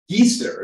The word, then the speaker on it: geyser: about geyser before yeah geaster is a proper pronunciation because it's actually an Icelandic word and this is um